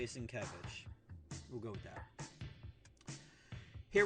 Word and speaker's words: Sienkiewicz: Because he puts Kev, so it's got it. Because, yeah, he tries to phonetically break it down, and he always puts K-E-V in large letters.